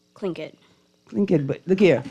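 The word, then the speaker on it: Tlingit: into the spelling B was clink it like it's spelled t l i n g i t like it didn't sound like how it was spelled it was so weird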